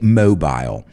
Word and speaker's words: mobile: But if we are going to use the British word, we'll pronounce it our way. So a mobile phone, or a cell phone. Cell is much more common. But the British, they say mobile.